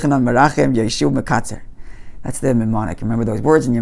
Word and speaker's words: mnemonic: which is called a mnemonic. Did I get the right word? Mnemonic, yeah. Mnemonic. You don't pronounce the M.